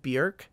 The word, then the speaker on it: Björk: You probably know Björk, as she is more commonly known, but it is pronounced Björk.